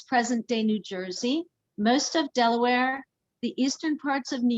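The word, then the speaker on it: De La Warr: british general thomas west lord day loire now pronounced delaware but some never left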